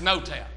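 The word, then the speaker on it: Noetown: Well, it's N-O-E, but it's pronounced No-Town.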